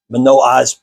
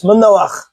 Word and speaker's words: Manoach: His father's name is Manoach. Manoah is how it's pronounced in English, but it's Manoach.